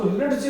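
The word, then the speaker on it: ridge: जैसे ये, इसको रिज नहीं कहते, इसको रिज कहते हैं। देखो D से डा गायब होगा, RIV, D हमारा साइलेंट, GE से बन गया रिज।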